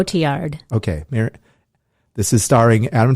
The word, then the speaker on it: Cotillard: It's going to be a musical starring Adam Driver and Marion Cotillard. How do you say her last name? Cotillard.